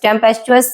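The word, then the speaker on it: tempestuous: देना बोस्टरियस टेमप टेमपेस्टस टेमपेस्ट सस सही प्रोनंसिएशन है टेंपरेचरस और आप देख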